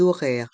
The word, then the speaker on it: horaires: Le H du mot horaire est muet et on fait une liaison avec le S et le O du mot horaire, les horaires. Et le R à la fin du mot horaire reste en suspens.